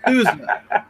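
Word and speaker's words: SUSE: First of all, can we just correct your pronunciation of sushi, man? This is not fish. It's Sousa. Open Sousa.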